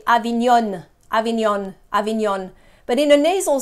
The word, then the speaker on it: Avignon: Avignon. Avignon. So when I say we don't pronounce letters separately in a nasal sound, you might be tempted to say Avignon, Avignon, Avignon.